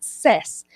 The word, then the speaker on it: says: Tú lo pronuncias says, pero la correcta pronunciación es says.